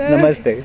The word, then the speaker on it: namaste: No, it's namaste. Okay. So just say namaste.